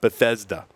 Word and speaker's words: Bethesda: Bethesda Maryland I said it right that time Bethesda got it that was the mouthful you did